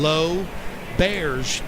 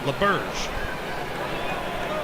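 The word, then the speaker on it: L'Auberge: with a t-shirt that with the proper pronunciation low bears and that's why it was a teddy bear because people always called it laberge well bellarmine needs to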